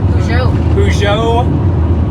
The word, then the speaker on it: Peugeot: We are rocking a, how you pronounce the car? Peugeot.